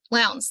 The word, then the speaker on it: Lowndes: So Mona Vance-Ali is the archivist for the local history department at the I'm going to mispronounce it, Columbus-Lowndes Public Library Lounge. System. Lowndes, thank you.